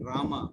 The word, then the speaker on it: Rama: The word Hare pronounced as Hare, Krishna pronounced as Krishna, and Rama rhymes with Dharma are Sanskrit words.